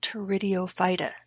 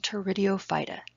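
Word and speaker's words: Pteridophyta: ferns are in phylum tour IDEO fighter the P is silent who puts silent letters in these words I don't know but ferns are in phylum tour video fighter the characteristics is it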